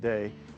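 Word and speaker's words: Dei: Our best-selling items is under our Day Fratelli brand. It looks like D Fratelli, but it's pronounced Day.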